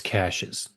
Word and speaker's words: caches: It's caches. You call it caches. Okay. All right. I just want to make sure I I know it's spelled caches but it's caches.